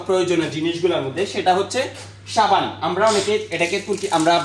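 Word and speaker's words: sabun: আমরা বাংলা ভাষায় এটাকে সাবান বলে থাকি তুর্কি ভাষায় কিন্তু এটাকে সেম ঠিক সেম বাংলার মতই সাবুন বলে উনারা আমরা বলি সাবান উনারা বলে সাবুন জাস্ট উচ্চারণটা একটু পার্থক্য আরেকটু যদি আমি আপনাদেরকে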